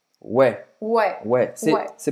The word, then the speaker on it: ouais: Mas o que você vai ouvir na França é ouais, ouais, Ué, ouais. ué. C'est prononcé assim, né?